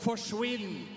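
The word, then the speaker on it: forsvinn: standing up in Norway we have a word that's called forwin and it rhymes with Quinn so it basically means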